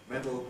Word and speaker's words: medal: an absolutely iron rule notice that there is no difference at all in pronunciation between the words spelled medal like that medal like that ver to medal they're both pronounced absolutely identically don't be misled by